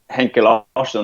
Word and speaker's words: Henke Larsson: Henke Larsson, that sounds so Swedish when I say that. Henrik Larsson to everyone else. How do you pronounce it the Swedish way? Henke Larsson. Henke's like his nickname.